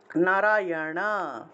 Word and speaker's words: নারায়ণ: তালুর পিছনের দিকে মূর্ধা তাহলে উচ্চারণটা প্রথমটার উচ্চারণটা হবে নারায়ণা নারায়ণা যে বা উল্টিয়ে উচ্চারণ করতে হবে নারায়ণা আর এটা হলো